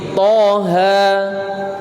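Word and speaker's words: طه: Nah, kalau toha di sini berapa toknya, berapa haknya? 2 sama 2. Kenapa? Karena termasuk mat tabi'i, toha.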